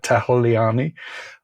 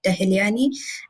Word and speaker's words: Tahiliani: And Kavya, you were working with a professor on campus, Professor Tahiliani. I mangled that. How do I pronounce his name? His name is Professor Mohit Tahiliani, and he is sort of our guide in